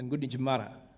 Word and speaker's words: Gunditj Mara: Well, I've been told that in Aboriginal language at home, like in English language, we put a lot of emphasis on the second syllable. So there's a place back home called Wodonga, but if you said it like an Aboriginal, it'd be Waranga.